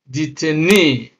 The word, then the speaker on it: detainee: So words that end in long E, three syllables or more, especially nouns with the long E sound, are stressed on the first syllable from the end of the word. That means the last syllable that contains the double E.